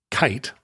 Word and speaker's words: Keith: the name of Max Kite, and his last name's spelled Keith, what we would say Keith, but pronounced Kite.